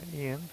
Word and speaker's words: Ian: Uh Ian rhymes with Brian. I'm like, how do you keep getting Brian out of my name? Ian's in it. It sounds the same.